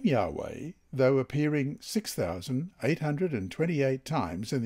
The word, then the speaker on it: Yahweh: capital w capital h y h w h pronounced yahweh and translated as lord in capitals in the